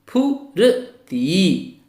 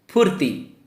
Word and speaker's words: फुर्ती: फुर्ती, रा का उच्चारण ती से पहले। फुर्ती।